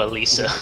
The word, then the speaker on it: Alicia: Oh, Alicia. That's how you pronounce that name, Alicia.